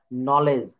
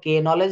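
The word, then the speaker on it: knowledge: শব্দের শুরুতে কে এন থাকলে তার উচ্চারণ হবে ন দন্তন্য যেটাকে বলে এক্ষেত্রে কে বা অন উচ্চারিত থাকবে যেমন নলেজ তো এখানে আমরা কখনো কে নলেজ বলি আমরা কখনো কিন্তু কে নলেজ বলি না আমরা কিন্তু এখানে এই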